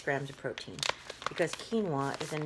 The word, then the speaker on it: quinoa: brown rice and it's a 90-second rice with quinoa so those of you who don't know this word is pronounced quinoa but if you don't know that